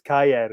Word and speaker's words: Kjaer: I think it's Kayer or something like that. Kayer?